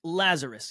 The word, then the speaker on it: Lazaros: Is that how I : pronounce his name correctly? : Lazarus, yeah, Lazarus.